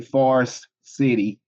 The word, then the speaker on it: Forest City: Small town, Forest City. But we say, when I pronounce it, I say Forest City. Like it sounds like either farce or far. But it's forest. It's actually forest.